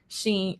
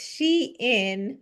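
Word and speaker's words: Shein: And I also remember seeing something around sheen Sheen Sheen. Um I don't know people pronounce it both ways. Let's let's I'll say I'll I'll uh correct the question here. It's she in because I remember very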